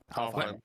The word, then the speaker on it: Alfheim: Because that was one where I was like, that was probably the world where I think I cared or is it Anaheim or Alfheim? Sorry. Alfheim.